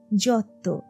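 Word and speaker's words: Giotto: আসল উচ্চারণ নাকি তিশান ওরা যাকে জিওত বলে তার নামটা উচ্চারিত হবে যত রাফায়েল নয় রাফায়েল ওদের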